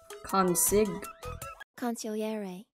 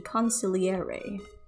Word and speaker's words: consigliere: mayor onion was the khan sig concilliere oh that is completely different from what i pronounced it ah new word your